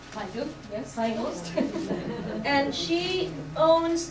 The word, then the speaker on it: Feigl: Feigl, yes.